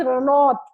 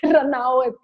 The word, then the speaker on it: Ranaut: And I was like, okay, it's pronounced Ranaut and not Ranaut.